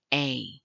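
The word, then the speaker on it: ἤ: is the greek word a it's spelled with an e but pronounced with the long a sound this is found or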